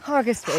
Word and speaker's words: Hergest Ridge: Hergest Ridge, it's pronounced locally, that's right, but it is spelled H-E-R, and it's part of Offa's Dyke.